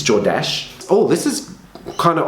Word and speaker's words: Jordache: name all the time he'd call it jordace or jodace it's jordash oh this is kind